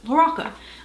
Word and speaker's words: LaRocca: saying his name wrong i've been saying larocca like zach de la roca from uh rage against fishing but it's loraca um i got a